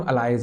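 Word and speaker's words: alleles: बात है एलेस नाउ इन्हें एलएल स्पेलिंग एलएल है बट इन्हें बोलते हैं हम अलाइज है ठीक है मैं अलाइज बोलूंगा आप जो मर्जी बोलिए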